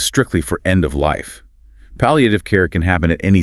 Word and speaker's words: palliative: And finally, for patients nearing the end of their journey or dealing with a severe chronic illness, we consult palliative care, pronounced palliative care.